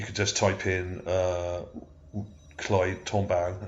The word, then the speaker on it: Tombaugh: just type in Clyde Tombaugh, it's spelled with a B-A-U-G-H on the end. I think that's how you pronounce it.